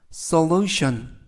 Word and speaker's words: solution: 이때 강세가 앞부분 sol에 있는 게 아니고 lu에 있습니다. 그래서 solution, solution 이라고 발음하시면 더 좋겠고요. 이때 tion 이 네 개의 철자가 션 발음이 납니다.